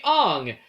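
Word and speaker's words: Aang: He was trying to pronounce it based on actual Chinese, so technically the correct pronunciation would be Ang.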